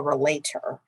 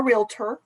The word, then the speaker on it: relator: the false claims act is called a relator um not a realtor which is a common um mistake uh that folks use